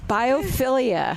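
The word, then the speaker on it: biophilia: Yeah, your bifold whatever Ilia biopilia I'm going to teach you a lesson about that so you can use it in your plant store.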